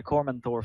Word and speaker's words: Cormanthor: Is this pronounced Cormathor? Cormanthor? Yeah, Cormanthor Forest.